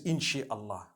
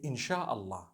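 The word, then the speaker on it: إن شاء الله: No one says Insha'Allah. They say Insha'Allah. That's what it is.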